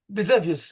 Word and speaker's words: Vesuvius: So you have Mount Vesuvius, or is that how you say it? Mount Vesuvius, the Yes, the volcano.